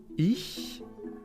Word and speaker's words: ich: Ich mache. You can hear that there are two different ch sounds in this one. Ich, very softly, and mache. It's in the back of the throat. It's very harsh, as if you were spitting out.